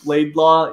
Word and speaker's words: Laidlaw: a phonetic in peru i would spell out my last name laidlaw using uh spanish phonetics oh so it was l-e-i-d-l-a then they could pronounce it when they would see